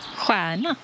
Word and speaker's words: stjärna: Juana. Juana, une étoile, que c'est beau. Juanur. Atita por Juanur. Regardez les étoiles. STJ se prononce encore une fois de la même manière, comme SJ. Juana.